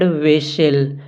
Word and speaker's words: whistle: तो इसे हम पढ़ते हैं whistle। यहाँ पर हमने ये यच को नहीं पढ़ा और यहाँ पर टी को नहीं पढ़ा। विशिल वर्ड में 2 लेटर हैं, यच और टी, जिससे हम पढ़ते नहीं हैं, तो ये दोनों साइलेंट माने जाएंगे।